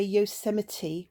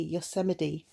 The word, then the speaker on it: Yosemite: I would say Yosemite with the T definitely pronounced, whereas Rachel's is more like a double D, Yosemite.